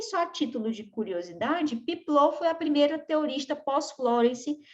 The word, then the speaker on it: Peplau: A primeira foi Florence, depois nós temos Piplot ou Peplau, vocês podem ver esse termo, mas se pronuncia Piplot, tá?